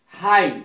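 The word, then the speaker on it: high: हाई में GH नहीं बोला जा रहा है, हाई, हाई का अर्थ होता है ऊंचा।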